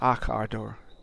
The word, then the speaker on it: Akador: So I guess we pronounce his name as Akador.